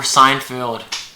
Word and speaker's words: Seinfeld: Oh, we're Seinfeld. We're It's Seinfeld. Seinfeld. Seinfeld. Sorry. Like a sign in the field.